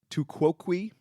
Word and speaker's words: tu quoque: And it's called tu quoque. Mm-hmm. So it's a famous Latin. Exactly. Yeah. So it's TU is the first word, then QUOQUE. Tu quoque.